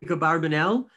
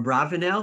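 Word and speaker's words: Abarbanel: to the jews but don isaac barbanel or abravanel however you pronounce it there's two ways he was their advisor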